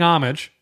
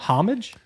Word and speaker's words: homage: they're paying they're paying homage homage homage is that how you say that word homage you don't pronounce h i don't pronounce hes they're paying homage to uh the other